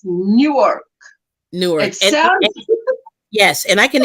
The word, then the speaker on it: Newark: there's another place yeah it sounds like New York but it's not New York it's new a-r-k Newark Newark I mean